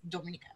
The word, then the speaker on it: Dominica: I've watched their news from Antigua and Barbuda and Dominica itself, so it's Dominica.